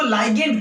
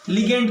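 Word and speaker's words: ligand: ये आपका क्या कहलाएगा, इसको लाइगेंड कहते हैं, लिगेंड कह सकते हो, लाइगेंड जो कहना कहो, प्रोनाउंसिएशन जो करना, इसको हम लोग कहेंगे क्या सर, इसको हम लोग कहते हैं सेंट्रल मेटल आयन।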